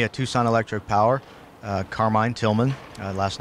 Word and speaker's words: Tilghman: certainly contact me at tucson electric power carmine tillman last name is spelled t-i-l-g-h-m-a-n you can email me at tucson